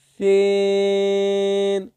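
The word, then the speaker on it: سين: এরপরে রয়েছে সিন। জিহ্বার আগা সামনের দুই দাঁতের আগার সঙ্গে লাগিয়ে উচ্চারিত হবে।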